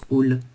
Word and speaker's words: halle: Donc là, on prononce all.